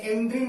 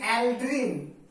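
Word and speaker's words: aldrin: এছাড়া অ্যালড্রিন, এটাও শুনবে দেখবে গ্রামের দিকে যাদের বাড়ি তারা জানবে, যেটাকে এন্ড্রিন বলে ভুল উচ্চারণ করে, সেটার নাম অ্যাকচুয়ালি অ্যালড্রিন।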